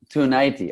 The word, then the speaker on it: Ciunaite: saying it correctly okay it's like tsunami tonight toight toighty okay perfecta tonight was born in